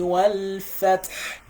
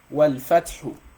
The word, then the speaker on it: والفتح: إذا إذا جاء نصر الله والفتح. You see, والفتح. Why are we saying fath and not saying fathu? So a lot of people will say wal fathu.